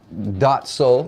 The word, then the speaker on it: Daht Soul: all right so we introduced you as dot Sol yeah okay and it's spelled daht whose soul yes so